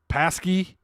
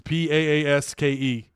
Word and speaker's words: Paaske: Andreas Paske. It's Paaske.